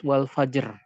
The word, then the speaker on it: الفجر: Contoh dalam kalimat wal fajr. Di sini ra-nya adalah sukun, sukun arid karena waqaf. Kemudian sebelum ro ada jim, kemudian sebelum jim ada fa yang dalam keadaan fathah. Maka dipastikan ini adalah masuk ke dalam pembahasan ro tebal. نعم.